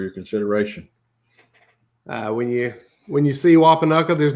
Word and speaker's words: Wapanucka: I'll mispronounce the name. I'm not from Oklahoma. Say it, James. Wapanucka.